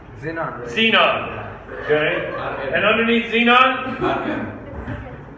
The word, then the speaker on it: Xenon: X is pronounced Z. Xenon.